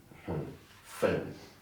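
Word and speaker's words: fent: Fen. The T is silent.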